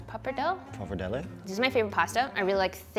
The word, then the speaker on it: pappardelle: How do you pronounce pappardelle? Pappardelle.